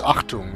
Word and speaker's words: Achtung: And by the way, it's Achtung. It's spelled with CH.